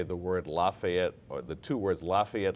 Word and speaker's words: Lafayette: two words Lafayette Leopards I had a lazy L and I could not pronounce the letter L properly really and it really it got me to really work on can you imitate it what did it sound like it sounded like coffee up efforts kind of like